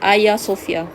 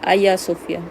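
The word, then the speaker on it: Hagia Sophia: membina ayasofia Oke ah Agya tuh kita sebut dia sebagai Ayah Sofia saya sebutan gitulah ejaan Hazel tapi sebutan dia adalah Ayah Sofyan kea Sofia dijadikan sebagai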